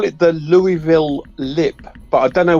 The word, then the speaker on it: Louisville: Yeah, that's there's a lot of people in Louisville that are we don't say Louisville here. We say Louisville. It's like The I is silent. Yeah, there is no Louis. It's Louisville.